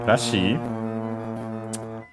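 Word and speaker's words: らしい: least we have this rashi which means uh seeming appearing uh accent on the uh she uh I'm pretty sure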